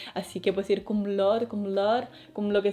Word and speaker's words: cum laude: Y tenemos por ejemplo kum laude Vale y lo pronuncio así kum laude porque es latín y se pronuncia más a lo español que a lo inglés así que puedes decir kum lord kum la con lo